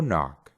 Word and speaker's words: knock: El quinto truco es que cuando tenemos una palabra que empieza con una K y después tiene una N, solo vamos a pronunciar la N y no vamos a pronunciar la K.